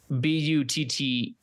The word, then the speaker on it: Butte: Gary Nolan and Atul Bute. I'm not sure if I'm pronouncing that last part right. Butte. But, you know, that's a cool last name. You got it.